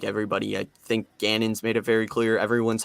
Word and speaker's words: Gannon: Back on John Geedon. Is that how you pronounce his name? I can never get his last name correctly. I'm bad at Jonathan pronouncing names. Gannon. Jonathan Gannon.